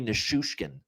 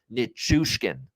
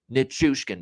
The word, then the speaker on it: Nichushkin: You look at the spelling of the last name, it's pronounced exactly as it's spelled. Nichushkin. Okay? Nichushkin, man. It's not complicated. I mean, he's saying Nishushkin all night long.